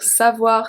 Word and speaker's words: savoir: Savoir, same pronunciation as avoir is W-A, savoir.